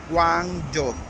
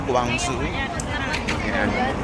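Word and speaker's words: Guangzhou: Ngayon nandito na tayo sa Guangjo. So para pamiliar tayo nandito na tayo sa Guangjo. Yan. So yan guys, nandito kami sa Guangzu.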